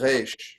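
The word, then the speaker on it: ריש: most people in America say Resh. Okay. So if you want to speak with an authentic Israeli accent, feel free to pronounce it Resh.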